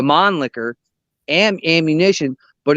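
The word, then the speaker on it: Mannlicher: it now it it it shoots the man licker ammo or as as the the true pronunciation the mon licker and ammunition but it's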